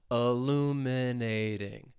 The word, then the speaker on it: illuminating: However, you're going to hear me pronounce it as a flap T with the American accent because it comes between two vowel sounds. Illuminating.